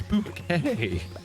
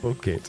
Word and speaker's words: bouquet: It's bouquet, not bucket.